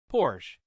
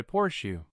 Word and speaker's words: Porsche: It is not Porsh. It is closer to Porshu.